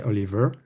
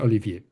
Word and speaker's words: Olivier: Uh, the other one, the most common, is just to skip the high and say Oliver. Hmm. And some of them, succeeding in saying Olivier.